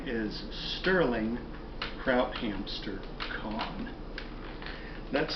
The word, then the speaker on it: Kauhn: hello my name is Sterling kout hamster con that's spelled k a u h n I am